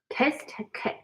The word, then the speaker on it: test kit: Test kit. Okay. Test kit. Same thing here. Okay. The T, the second T in test, I'm almost not pronouncing it.